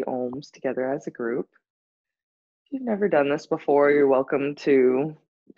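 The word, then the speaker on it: Aum: The sound ohm is spelled A-U-M, so it kind of starts as if you're at a dentist saying, ah, and then the sound transforms into the O sound.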